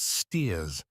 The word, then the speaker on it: Staith: Saunderson, a shopkeeper at Staith, always pronounced Steers, a small fishing town on the Yorkshire coast, about 9 miles to the northward of Whitby.